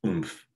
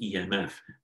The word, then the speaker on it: EMF: Electromotive force, which we abbreviate as EMF, which would be pronounced, it's conventionally produced EMF. But if you just read it as a word, it would look a lot like oomph, right?